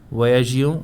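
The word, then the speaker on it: voyageons: And the pronunciation is voyage, voyagion, voyager. So this pronunciation alone will differ.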